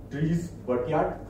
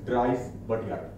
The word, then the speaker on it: Dries Buytaert: There is one German pronunciation, one is English. So is it Dries Buytaert or it is Dries Buytaert?